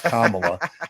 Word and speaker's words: Kamala: At the very end, I was going to go, Kamala Harris, because I know it's Kamala, but I would mispronounce her name.